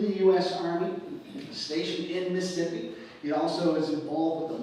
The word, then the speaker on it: Mississippi: mississippians and you know you're saying it right if you can say Mississippi in one syllable Mississippi all together so you got the